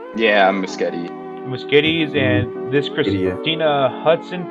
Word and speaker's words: Muschietti: But yeah, Flash, whatever they're going to do, I just hope that the Muschettis, is that how you pronounce their name? Yeah, Muschietti.